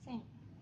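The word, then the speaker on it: 千: bahasa Jepang disebut dengan seng jadi seng itu merupakan angka ribuan dalam bahasa Jepang Nah untuk pola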